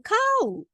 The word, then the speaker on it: 買う: Okay, pronunciation 買う Then 買う So you see a little bit of 買う intonation down 買う This is to